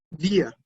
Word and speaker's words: wir: Wir, wir, wir. Así se dice, wir. Voy a repetirlo nuevamente, wir, wir. Suena muy parecido a la palabra cerveza, pero tiene una pequeña diferencia en el sonido.